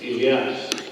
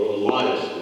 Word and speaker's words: Elias: My name is Elias, or Elias, we pronounce it here.